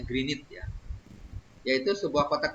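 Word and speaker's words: Greenwich: rata yang diukur di kota greget bacanya Green It ya Hai yaitu sebuah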